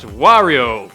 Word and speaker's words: Wario: Wario, or as it's probably supposed to be pronounced, Wario, because that sounds more like Mario.